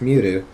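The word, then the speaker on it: 見る: And it with plus ru is also just pronounced miru, and that is to look, to see.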